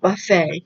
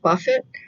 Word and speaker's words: buffet: this word is pronounced buffet it looks like Buffett but it's pronounced buffet what is it yes